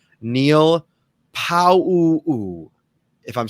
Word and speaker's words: Pau'u: Neil Pau'u, if I'm saying it correctly.